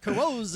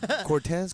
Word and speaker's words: Corzo: Corzo. Carozzo. Everybody gets my last name wrong. Cortez, Corazon, like the heart.